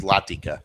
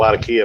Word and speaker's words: Latakia: Latakia versus Latika. Same fucking thing. I call it Latakia because that's how the town's pronounced in Turkey or Syria.